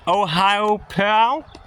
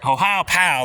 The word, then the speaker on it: Ohiopyle: I'm not Hopefully I'm saying it right. Ohiopyle, like you're punching something.